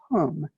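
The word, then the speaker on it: hūṃ: a h and the mantra of mind is whom spelled h u n therefore if we recite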